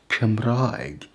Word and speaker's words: Cymraeg: The Welsh language is called Cymraeg, but that is not rhyming with egg, is it? No, but it still has that EG at the end. All languages do.